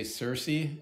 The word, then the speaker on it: CiRCE: I say it right depends what what region you're from if you're Greek you got to say kir k yeah you're right if you're from Wisconsin you'll probably say Cersei if you're from Kentucky